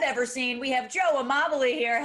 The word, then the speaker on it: Amabile: cutest guys i've ever seen we have joe immobility here how you doing joe good how are